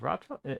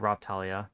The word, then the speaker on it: Raphtalia: Is it Raphtalia? I think they pronounce it Raphtalia. I said Ralph. It's technically it's like spelled like Raph, so R-A-P-H, but I'm pretty sure it's like Raphtalia.